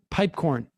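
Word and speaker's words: Piepkorn: Is that how we pronounce his name? Pipecorn.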